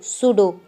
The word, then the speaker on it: pseudo: जब भी पी के साथ एस लेटर आता है तो पी साइलेंट हो जाती है। For example PSEUDO सूडो, PSCHOLOGY psychology.